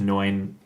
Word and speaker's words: Noin: And one of them is like chapter 2 with Noin.